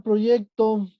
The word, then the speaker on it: proyecto: La palabra proyecto. Grave. Grave. La palabra proyecto es una palabra grave.